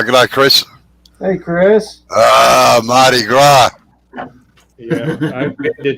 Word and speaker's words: Mardi Gras: It's Mardi Gras. That's all right. Just the way I pronounce it, it just sounds like something slightly different here. No, you don't pronounce the S.